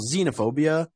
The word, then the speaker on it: xenophobia: never pronounced as um it's never pronounced as KS or never pronounced as X it's always pronounced as Z so for example xenophobia Xena always with it